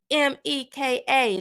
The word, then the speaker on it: Shemeka: It's Shemeka, like she, me, Ka.